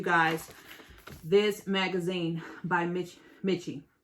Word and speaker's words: Miche: this magazine by mitch mitchie i believe that's how you pronounce it by mitchie now what